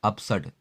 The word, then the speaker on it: absurd: Next word आपका है अपसड। यहाँ आर साइलेंट है, ABSURD है, आर साइलेंट है आपका।